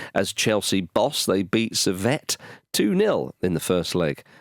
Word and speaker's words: Servette: Servette. It's the French part of Switzerland, I think. So it's Servette.